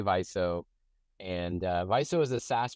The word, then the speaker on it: Viso: um vizo uh what we don't like to hear is Vio it's definitely not Vio the other ones are kind of permissible and and of course as we like to say paying customers can pronounce it however they like right um in any case um yeah we say viso and viso is a